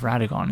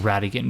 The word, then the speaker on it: Radagon: Statue of Radagon instead of Queen Marika. It's funny I realize I've been saying Radigan because that's how what's his face Turtle Friend pronounces it.